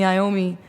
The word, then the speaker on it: Iommi: Black Sabbath, Tony Iommi.